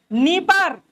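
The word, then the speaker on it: Dnieper: हालांकि डी हटा देते, डी साइलेंट कर देते, नीपर बोलते हैं।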